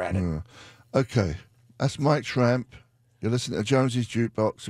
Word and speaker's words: Tramp: It's like a lot of people never, when I pronounce tramp, they never really hear it all the way, so they always write Trump. Yeah. I says, nah, there's an A in it, though. I mean, it's obvious. Yeah, there it's is tramp. An A, but not everybody pronounces the A the correct way.